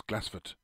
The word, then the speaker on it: Glassford: old Kirk and Cemetery at glassford pronounced local as glassford near straven in South